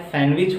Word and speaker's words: sandwich: उसी तरह अगर ले लिया गया SANDWICH, डी साइलेंट है। सैंडविच नहीं होता है, सैंडविच होता है।